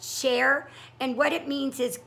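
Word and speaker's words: chèvre: share it's caught this CH e BRE is pronounced share and what it means is goat cheese but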